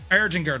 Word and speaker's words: Erdinger: So, now I It could have been the Aringer or Erdinger. Eringer, that's how you pronounce it.